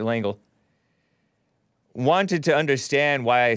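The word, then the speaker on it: Lengel: liked how brent lang langel l-e-n-g-e-l i think he pronounces it langle wanted to understand why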